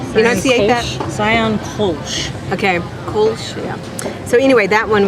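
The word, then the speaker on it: Kölsch: up before dinner, this Sion, how do you pronounce that? Enunciate that? Sion Kolsch. Okay, Kolsch.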